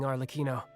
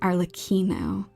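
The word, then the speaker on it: Arlecchino: Um, because the way that her name is spelled, it's kind of like zucchini. Zucchini has two C's in there. Arino.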